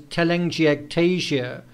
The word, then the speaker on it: telangiectasia: on donald's cheeks okay and once again the pronunciation is telangiectasia it's an abnormal dilation of red blue or